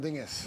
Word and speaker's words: Dinges: you say it the right way waffles and Dingus Dingus between stuff it's like a slang word